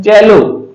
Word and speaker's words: CELLO: इसका उच्चारण क्या होगा, से नहीं होगा, इसका उच्चारण होता है चेलो।